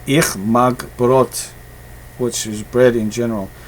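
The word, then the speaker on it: Brot: that's what I like boats that's how you say it in German so that's brought apparently German the best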